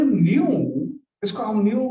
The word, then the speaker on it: nu: इसको हम new pronounce करते हैं. न्यू न्यू. इसका प्रोनाउंसिएशन होता है NU. ठीक है, ये सिंबल का प्रोनाउंसिएशन होता है न्यू.